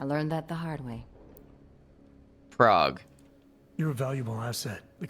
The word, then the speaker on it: Prague: the right string and prag has plenty of that bothers me how she says Prague I've never heard anyone pronounce it prag you said we got